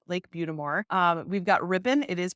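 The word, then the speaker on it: Lake Butte des Morts: And that is pronounced Lake Butamore.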